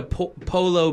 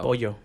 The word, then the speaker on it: pollo: Like, let me get a polo burrito. Pollo.